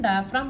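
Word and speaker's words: diaphragm: इसका pronunciation डायाफ्राम होगा।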